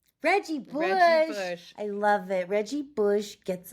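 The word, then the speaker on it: Buscemi: Steve Bushi.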